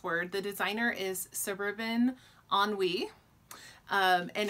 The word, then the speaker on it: ennui: to say this word the designer is suburban ennui and it's the works of Jane Austen stitch